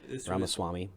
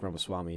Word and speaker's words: Ramaswamy: I can't remember really pronounce his last name. Ramaswamy.